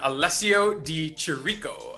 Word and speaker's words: Alessio Di Chirico: joaquin buckley taking on alessio di chirico i believe that's how you say his name yeah you got it baby yeah you know